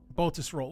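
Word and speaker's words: Baltusrol: I say it right yes baltus roll wooden balls go roll baltus roll balls go roll no All To Us roll like balls roll got it I'll say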